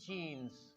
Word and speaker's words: jeans: चलो मैं मान लिया कि आपने कहा मैंने जीन की पैंट्स खरीद ली है। रिमेंबर, जीन की पैंट्स नहीं होती। सबसे पहले तो वर्ड जीन ही नहीं होता, एग्जैक्ट प्रोनाउंसिएशन है इसकी जीन्स।